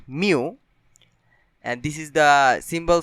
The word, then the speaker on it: mu: It is a Greek letter and in English it is pronounced mu, and this is the symbol for population mean.